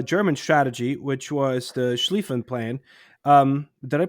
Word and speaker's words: Schlieffen: The western front um is part of a German strategy which was the Schlieffen plan. Um did I pronounce that right?